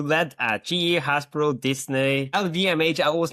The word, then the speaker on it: LVMH: You led at GE, Hasbro, Disney, LVMH. I always mispronounce it.